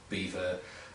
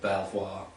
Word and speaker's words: Belvoir: There's Shurlet, there is Beaver or Belvoir, as it's sometimes pronounced, and Martin and Co.